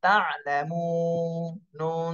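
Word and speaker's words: تعلمون: জবর লা তা আলা আইনের উচ্চারণটা গলার মধ্যে আটকায়ে যাবে এভাবে বলতে হবে তা আইন জবর তা লাম জবর লা তালা মিম ওয়াও পেশ মু তালামু নুন জবরে না তালামুনা এখানে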